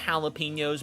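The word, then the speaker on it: jalapeños: That's pronounced jalapenos, by the way.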